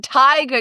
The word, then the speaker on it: Teigeler: Osorio and Teigeler. Did I say it right this time? Teigeler. Tiger. You even, Sonia even said like tiger, and I said still went Teigeler.